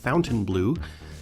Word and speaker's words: Fontainebleau: Miami Beach's Fontainebleau Hotel, pronounced by the locals as Fountainbleu, is a famous local landmark.